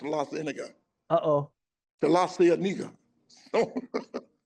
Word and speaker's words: La Cienega: Wilshire is first, and then we got La Cienega. uh-huh. But when I first got there, I mispronounced La Cienega Uh-oh.